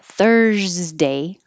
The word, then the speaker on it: Thursday: stays a t thirsty the word thursday the s looks like an s but it sounds like a z thursday and then it's